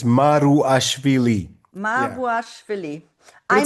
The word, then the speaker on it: Maruashvili: No, it's I'll spell it. It's like Maruashvili. It's Maruashvili.